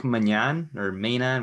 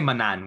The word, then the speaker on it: Maignan: As much as we say Lille is bound to eventually lose, Mike Maignan, however you pronounce his name, we just say Manan, which sounds like my mother in English slang.